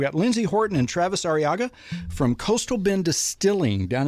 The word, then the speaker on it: Arriaga: We got Lindsay Horton and Travis Arriaga from Coastal Bend Distilling down in Beeville.